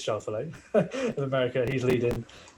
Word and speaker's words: Schauffele: I think it's Schauffele of America.